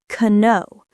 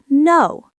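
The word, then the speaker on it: know: The K in no is silent. We don't say cano. We just say no.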